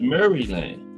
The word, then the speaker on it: Maryland: Everybody say Maryland, but that's what it was. Maryland. That's how it's supposed to be pronounced.